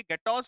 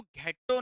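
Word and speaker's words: ghetto: ये गेटॉस अक्रॉस क्या होता है मैं आपको बताता हूँ। गेटॉस एक वर्ड है, ये एग्जैक्टली exactly। इसको घेटो नहीं पढ़ेंगे, इसे हम पढ़ेंगे गैटो। एच जो होगा वो साइलेंट होगा।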